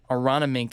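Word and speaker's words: Aronimink: And the next major just over a month away at Aranamink is how you say it. If you look at the spelling of this golf course, it's interesting, but that's where the PGA Championship is.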